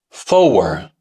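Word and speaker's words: Four: To eliminate those variations and create a single internationally understood standard, the official pronunciation became tree. Fower, fife.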